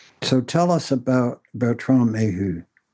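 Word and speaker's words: Méheust: Uh do you pronounce his name Bertron May? Mayu Mayuh Mayu and returning the human sciences to consciousness.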